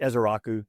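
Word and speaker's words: Ezeiruaku: Yeah, it is Izaraku.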